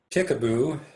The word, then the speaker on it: Ticaboo: drive through more trivia ticaboo if you know where ticaboo is it's on your way to bullfrog marina at lake powell ticaboo means friendly in Paiute but any name that rhymes with peekaboo really is kind of